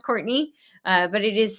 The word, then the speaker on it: Courtenay: So, I spell my name a little bit differently. So when you're searching for me, it is important to spell it correctly. I spell it like Cortana. It is pronounced Courtney, but it is c